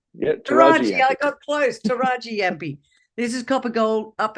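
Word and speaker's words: Tarraji-Yampi: Finally, the Kimberley, up in the Kimberley, that I can't pronounce it. The Taraji Yampi? Yeah, Taraji. I got close. Taraji Yampi.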